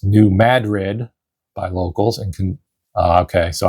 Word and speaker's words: New Madrid: New Madrid is pronounced New Madrid by locals. And okay, so I was saying Madrid. It's Madrid, New Madrid, to the locals there, as opposed to the city in Spain, the capital of Spain.